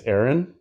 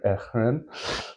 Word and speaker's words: Ehren: Maybe it's Ehren. The H is silent, or Ehren.